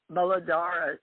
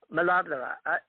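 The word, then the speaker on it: Muladhara: the root chakra yep known as the molodora i said it right m-u-l-a-d-h-a but my indian friends in sanskrit malad i can't say it like that yeah all right you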